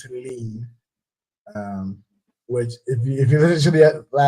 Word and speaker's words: Helene: And that, ladies and gentlemen, I learned how to pronounce it. It is Helene.